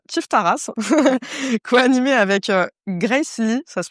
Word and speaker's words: Grace Ly: H alors RTBF a écrit à ton sujet dans son podcast kiffe ta race coanimé avec Grace Lee ça se prononce comme ça ?